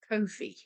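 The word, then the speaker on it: Ko-fi: I think it's pronounced Kofi. I started a Kofi. I think it's meant to be a play on the words no fee, but also coffee. And it's like buy me a coffee.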